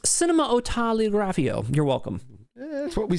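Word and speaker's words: Cinématographe: Jay Donnelly says it's pronounced cinematografio.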